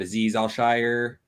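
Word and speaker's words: Azeez Al-Shaair: after that we got aziz al shire al i believe is the way you pronounce it marcel harris who's converted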